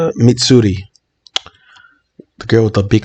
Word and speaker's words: Mitsuri: Mitsuru. Fuck. How do I pronounce her name? I have it right here. Mitsuri.